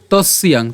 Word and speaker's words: তস্যাং: এরপর তস্যাং, তস্যাং কেন? এখানে আমরা দন্তস্ব পর্যন্ত উচ্চারণ করছি তস, এবং এখানে যে জফলা আছে আমরা জানি জফলার উচ্চারণটা কার মতো হবে? ইয়র মতো হবে, এবং ইয়র সাথে আকার এবং অনুস্বার যদি আমরা উচ্চারণ করি একসাথে তখন তার উচ্চারণটা হবে কেমন? তস্যাং।